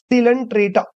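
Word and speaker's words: Coelenterata: इज सिलेंट्रेटा इसको कैसे read करोगे या फिर प्रोनाउंस कैसे करोगे सिलेंट्रेटा निडेरियंस या फिर सिलेंट्रेटा समझ में आ गया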